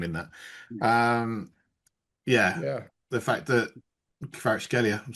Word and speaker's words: Kvaratskhelia: I mean, he was so good that Kvaratskhelia, that's how you say it, David, Kvaratskhelia.